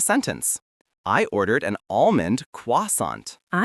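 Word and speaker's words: croissant: you'll hear most often, the T is still silent and the final sound is a soft on or on. The word is pronounced quasant. The first syllable is a quick qua. Quasant.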